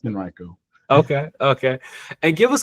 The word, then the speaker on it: Henrico: Yeah, it's pronounced Henriiko County and it's we're real sensitive about that here.